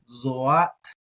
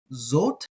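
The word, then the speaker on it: זֹאת: Zot is how a lot of people are going to say this. They're going to treat the aleph like a silent place-held letter. Zot. I'm going to say zoat.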